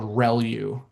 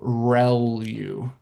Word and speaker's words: ReLU: The the way you pronounce this is called relu. So relu r e l u.